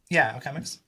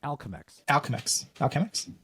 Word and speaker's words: Alchemix: So you can like put up, Alchemix. No, that's not how you say it. It's Alchemex. Alchemix. Like Alchem Mexican?